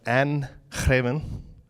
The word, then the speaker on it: Greven: We have here Anne Greven. Wanted to make sure you got the Dutch pronunciation right. Was that close? Yeah, that was very good.